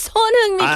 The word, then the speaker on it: Son Heung-min: I don't like how he pronounces his name. It's It's Son Heung-min.